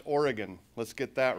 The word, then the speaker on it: Oregon: the reasons i got involved and actually it's pronounced oregon let's get that right and truth be told